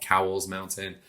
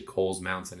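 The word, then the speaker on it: Cowles Mountain: in san diego now a lot of people mispronounce that they call it cowell's mountain it's actually kohl's mountain it's from a family and done a lot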